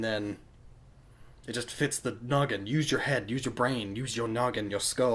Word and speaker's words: Gnoggin: heads noggin use your noggin haha ooh silent G because silent letters and stuff and